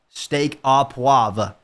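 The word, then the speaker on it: steak au poivre: Steak a puave.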